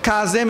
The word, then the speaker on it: Kazim: In Arabic, Kazim is pronounced Kazim.